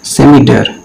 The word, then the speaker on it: scimitar: ये स्पेलिंग गलत लिखी हुई है, ठीक है, इट इज SCIMITAR, सेमिटर, ठीक है।